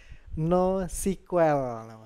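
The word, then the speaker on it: NoSQL: objek ada database sequel saya baru tahu juga ternyata bacanya nggak boleh SQL teman-teman tapi no sequel ya biar lebih manis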